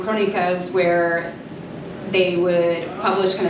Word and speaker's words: Crónicas: But it's titled Crónicas, which is pronounced, it's a Portuguese, it's derived from a Portuguese writing form, Crónicas, where they would publish kind of daily journalistic happenings in the daily papers.